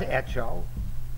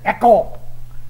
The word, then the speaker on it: echo: en México dice hecho pero no es hecho hecho es el verbo hacer es eco como está escrito e k o eco es como se dice esta tenemos en el